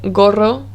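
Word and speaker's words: gorro: or u it makes the same sound as the letter g in english the g sound for example the word gara which means claw or the word goro which means hat ga go it's a g sound the second sound for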